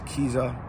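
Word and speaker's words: Kizza: When you look at Dikwa, when you look at it's Kiza, I think is how you say it. I think that's the right way to pronounce it.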